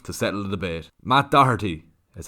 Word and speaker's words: Doherty: brought upon myself to settle the debate Matt Doherty is how you say his name without missing